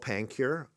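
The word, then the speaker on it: PanCuRx: to the public and it's called panure I didn't come up with this name it was by Tom Hudson and the x is silent uh and there were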